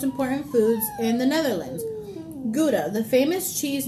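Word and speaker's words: Gouda: the Goa GDA city am I saying it wrong is it guda or GAA I'm thinking it's GDA no it's GAA Goa yeah you're not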